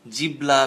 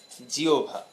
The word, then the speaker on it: জিহ্বা: একটা গুরুত্বপূর্ণ অঙ্গ, এর এটিকে অনেকে জিহ্বা, জিবলা বিভিন্ন ধরনের নামে উচ্চারণ করে থাকে। হ্যাঁ, কিন্তু এর প্রকৃত যে উচ্চারণ, সেই প্রকৃত উচ্চারণ কিন্তু জিহ্বা।